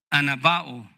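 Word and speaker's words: ἀναβοάω: La palabra que aquí se describe como exclamó, de donde tenemos el subtítulo para nuestro primer punto, es una palabra en el original que se pronuncia anabao y describe un grito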